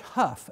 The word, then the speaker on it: Hough: His name is George Hough, H-O-U-G-H, but let's pronounce it Huff, H-O-U-G-H, George Hough.